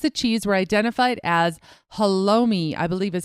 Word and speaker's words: halloumi: The blocks of cheese were identified as halloumi, I believe is how you pronounce that.